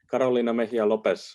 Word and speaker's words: Carolina Lopez: the chat and uh carolina lopez i hope i'm not mispronouncing your name too badly would you like to ask your question yourself you did pronounce it correctly yuhu thank you um